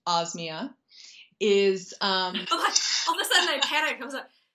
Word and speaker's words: Osmia: I think the one thing I wish everyone knew about Osmia, other than the fact that it's pronounced Osmia, is...